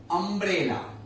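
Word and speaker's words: umbrella: अब सपोज अगर यू का एक और स्पेलिंग में बताता हूं, अम्ब्रेला। अब इसमें यू है, लेकिन साउंड में क्या आता है? अम्ब्रेला, अ साउंड में आया अ, ये स्वर है मतलब वॉवेल है, सो एन अम्ब्रेला।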